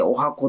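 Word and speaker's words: 十八番: ましたと、18 番と書いてお箱と読むということで、日本日銀破綻ですね。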